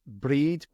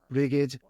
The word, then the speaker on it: Brigid: of the Celtic deities, which is breed, brigid, however you want to pronounce it, or depending on where in the British Isles and Ireland that you are. I always call it breed, Brighd. Difficult pronunciation when you read it, but if you hear somebody say it, it's not so bad.